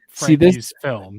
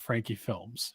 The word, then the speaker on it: Frankie's Film: Frankie's film, not Frankie Films.